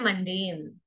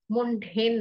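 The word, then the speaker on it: mundane: ठीक है, तीसरा शब्द है मंडेन। मुंडेन नहीं, मंडेन।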